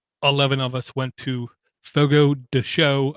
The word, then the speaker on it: Fogo de Chão: 11 of us went to Fogo de Chão, I was told is the correct way to pronounce it, where I used to call it Fogo de Chão, which is basically a carnivore's dream come true.